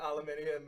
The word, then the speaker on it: aluminium: Because I As Biffy Clyro once said, I pronounce it aluminium I am a mountain. because there's an I between the U and N.